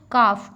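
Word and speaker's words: calf: तो काफ काफ में L silent है।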